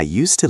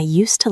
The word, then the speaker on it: used to: We don't say use like use a pen with a buzzing Z sound. When we speak fast in this structure, the S becomes soft. Used to. It almost sounds like one word.